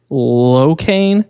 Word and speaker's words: Lochian: A guy that goes by Kane, but his name is Locain, and it's spelled Lochian.